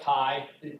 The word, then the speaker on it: chi: that makes me insane, so please call it chi. That's the correct pronunciation.